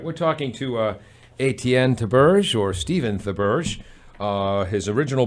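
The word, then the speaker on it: Étienne Théberge: Stephen the Purge is with us, or you can pronounce it properly like this. Etienne Theberge.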